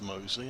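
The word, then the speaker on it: Mousley: high hopes for and although it doesn't look it is pronounced mosley i got confirmation from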